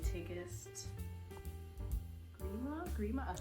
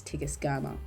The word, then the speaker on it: Tigest Girma: So I just finished reading Immortal Dark by Tigma Grema. I just went on her Instagram. This is voice over and the correct way to pronounce the name is Tigus GMA Monday of this week